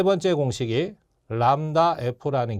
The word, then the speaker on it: 람다: 그래서 L과 C를 주면 이게 두 번째가 되는 거고 세 번째 공식이 람다 F라는 게 있어요.